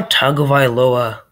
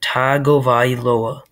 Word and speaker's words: Tagovailoa: i'm giving mitch trubisky as of now tua tagovailoa that's how you pronounce it by the way tagovailoa to our tagovailoa is as of now um